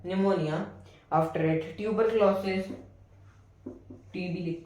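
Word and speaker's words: pneumonia: अब इसका रिजल्ट जो होगा, एक आदमी वेरियस इन्फेक्शियस डिसीजेस, ऐसे ही काफी सारी इन्फेक्शियस डिसीजेस जैसे कि निमोनिया, पी साइलेंट होता है, निमोनिया, after it tuberculosis, TB लिख देते हैं हम इसको, फीवर जैसी और बीमारियां होंगी।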